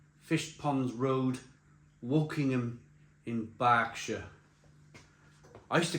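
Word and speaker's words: Berkshire: started reviewing beer and I used to call it Burkshire. And people in the comments box used to go, "What are YOU WHAT ARE YOU DOING? IT'S NOT CALLED BURKSHIRE, IT'S CALLED BSHIRE." It's an A. It's an E that's pronounced with an A.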